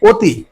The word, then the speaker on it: অতি: তাহলে আমরা কিন্তু এখানে উচ্চারণে কখনো অতি বলছি না। অ এর স্বাভাবিক যে একটা যে উচ্চারণ সেটা কিন্তু আমরা করছি না। এখানে উচ্চারণ করতে হচ্ছে অতি।